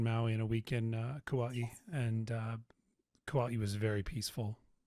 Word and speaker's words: Kauai: Kauai or Kauai. I like Kauai. That's the more Kauai. Legit pronunciation.